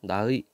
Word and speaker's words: 나의: 책이라고 해 봅시다의 조사 나의 원래는 의로 발음해야 되는데 에로 발음하는 것도 허용한다는 얘기입니다 자 여러분들 요거 아도